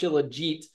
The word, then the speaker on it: Shilajit: And most of these Shilajit products that I've learned that it's pronounced Shilajit, at least how they pronounce it in the Himalayas where it comes from, and it is Himalayan Shilajit.